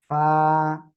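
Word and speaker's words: فاء: Simple ফয় আকারে ফা, just বাতাসটা বের করতে হবে আমাদের। ক্লিয়ার?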